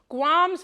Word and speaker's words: Gwamz: Is there M at the end? Is Z. MZ. So Gwamz.